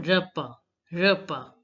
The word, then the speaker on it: repas: The last S is not to be pronounced. Un bon repas.